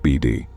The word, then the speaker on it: Bede: I'd have never heard the strange story of the Bede Ranch, pronounced BD.